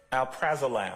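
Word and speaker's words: alprazolam: got to be prescribed right yes okay um Al prazolam am I pronouncing that right yes yeah um one name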